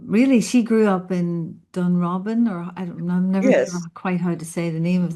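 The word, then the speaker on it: Dunrobin: But um really she grew up in Dunro Robin or I I'm never quite how to say the name of that house. Dun Robin.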